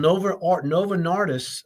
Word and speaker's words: Novo Nordisk: This is created by a drug company, a pharmaceutical company that also made Prozac, by the way, called Novo Nordisk over in, I think that's how you pronounce it.